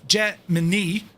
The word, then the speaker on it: Gemini: However, inside NASA public affairs office issued a statement in 1965 declaring Jemini the official pronunciation.